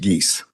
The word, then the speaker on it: Geese: And if I may correct the court, the last name is pronounced Geese. Geese, sorry about that. As in Canada Geese.